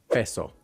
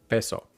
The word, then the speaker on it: peso: Peso, peso, which an American accent will pronounce as peso. Yeah, peso. And here's what he means by the sliding sound. A typical American accent will be peso, pay, like P-A-Y, pay, like pay a bill. Yeah, peso, peso. And we drag out the O as well, but it's peso, peso, peso.